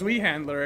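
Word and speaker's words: Zweihänder: um we handler probably zveyander this is german we're not dry ma'am look as far as i'm concerned it's pronounced zui handler and anyone who uh says otherwise is just dumb swedish handler okay of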